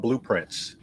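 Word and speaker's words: Blue Prince: It's a homophone. It sounds like the word blueprints as in construction of a house, but it's spelled blueprints as in Blueprince, a person that is blue and is of royalty.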